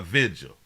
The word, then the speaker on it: vigil: really we got a vigil a vigil I know a lot a lot of people pronounce it visual visual is Vigil it's like ugly nah